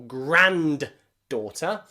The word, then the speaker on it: granddaughter: Most people don't say grandson or granddaughter. In granddaughter, there are two D's. The first one is silent. Daughter, of course, we need D, daughter. But in grand there, we don't pronounce the D.